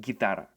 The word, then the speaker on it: guitarra: letter G is that when the letter G is located in the groups G or Gi, the letter U becomes completely silent. So basically, when we have words guerra and guitarra, we don't say guerra nor guitarra.